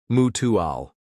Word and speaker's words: mutual: Notice the stress on the first syllable of mutual mutual.